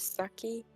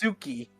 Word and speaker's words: Suki: I was about to say if anything like say you're going to name it Saki. Yeah, but it's pronounced Suki.